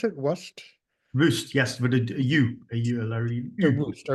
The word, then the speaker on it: Wust: Is that how you pronounce it? Wust? Wust, yes, with a Larry So U.